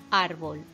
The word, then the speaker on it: árbol: Por ejemplo, árbol. Árbol es una palabra llana y no acaba ni en N, ni en S, ni en vocal.